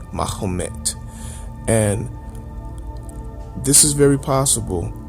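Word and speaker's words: Mehmet: mahed Mah muhamed mahed mahed is how Muhammad's name is pronounced in Turkish mahed and this is very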